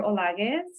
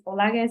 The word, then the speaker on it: Olaguez: my name is Dr olagis it's similar to the way that you pronounce Rodriguez um but it's olagas if you still have